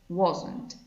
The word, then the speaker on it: wasn't: van a ver como was not abreviado queda wasn't ojo con la pronunciación esta app se pronuncia i want what y acá no agregamos la en la pronunciación porque es un error muy común wasn't bien la forma de negativo entonces va a